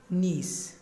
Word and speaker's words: niece: जी बच्चों, मोस्टली बच्चे जब नेफ्यू की फेमिनिन लिखते हैं नीस, तो वो स्पेलिंग गलत कर देते हैं, लिख देते हैं NICE, वो बन जाता है नाइस। Mostly students नाइस ही लिखते हैं, जबकि नीस के स्पेलिंग है NIECE नीस।